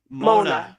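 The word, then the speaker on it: mauna: Mona mean it's spelled M A U N A. Mona. Yeah, it means silence.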